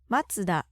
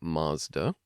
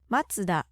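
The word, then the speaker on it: マツダ: famous car makers but listen to how they are pronounced in Japanese in English we say Nissan matsuda in English we'd say Mazda Toyota of course Toyota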